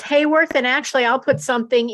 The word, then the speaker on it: Hayworth: Do you pronounce it Hayworth or Haworth? It's Hayworth, and actually I'll put something in a lot simpler.